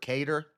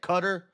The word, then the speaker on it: Qatar: They bombed a military base in Qatar or Kedar. Qatar. How do you say it? Qatar. Cutter. Some people say Qatar. Qatar. Qatar. Whatever it is.